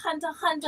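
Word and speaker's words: Hunter x Hunter: pronounce pronounce the x it's just called hunter hunter and i just thought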